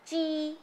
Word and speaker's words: chi: called Chi Chi pronounced Chi it can also be spelled as Qi but still pronounced as ch it has been defined